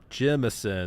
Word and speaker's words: Jemison: Jemison, that's how you pronounce it.